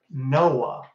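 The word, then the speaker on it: NOAA: Oceanic and Atmospheric Administration now it's not spelled like we would say but it's called Noah and that hearkens back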